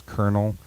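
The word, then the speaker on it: colonel: vowels in there that don't make any sense kernel is not spelled it's spelled Colonial um and you know what I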